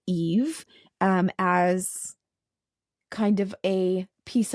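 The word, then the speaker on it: Aoife: And so the king, who is named Bod, I believe King Bod, offered Lear his daughter, pronounced Eve, as kind of a peace offering for their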